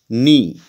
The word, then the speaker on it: Knee: Knee, here K remains silent.